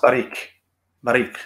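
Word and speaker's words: ברוך: in fact that word is here and it's pronounced barik as in like in hebrew this is blessed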